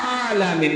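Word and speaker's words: العالمين: এই জায়গা হালকা একটু আঙ্গুলটা চাপ দেন আলামিন আঙ্গুলটা এই জায়গা এইযে খালটা হালকা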